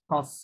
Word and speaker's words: sens: এটা উচ্চারণ সন্স করতে হবে হ্যাঁ সন্স মানে মিনিং